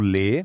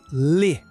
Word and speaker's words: le: C'est un son beaucoup plus fermé et rapide .